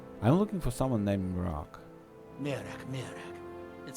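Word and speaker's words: Miraak: so the Temple of Mira how do you pronounce it not Mira but Mir Mir I think he pronounce it uh so the Temple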